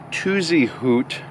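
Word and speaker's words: Tuzigoot: starting today off at tuzy hoot even though it's it looks like it's spelled tuzy Goot National Park and it's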